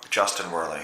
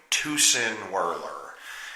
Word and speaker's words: Justin Werley: the Chinamen call me Justin Worley yes when I went to wrestle in China they pronounced my name to sin were ler because I don't know